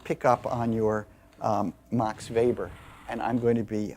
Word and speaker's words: Max Weber: and um for some reason we we really pronounce this correctly so people will laugh at you if you say ma Max Weber uh it's he's German and uh uh we call him Mox vber and uh we're going to be reading MOX